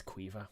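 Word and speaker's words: Caoimhe: By the way, for anyone that doesn't know, her name is Quiva. That's how you pronounce that.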